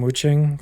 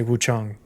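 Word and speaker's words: Wuchang: talk about it and the devs themselves, some of them say Wuang and some of them say Wu Chong.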